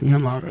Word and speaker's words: Ian Lara: So what he just said about Ian Lara, I hope I pronounced that properly. Yes. Ian Lara.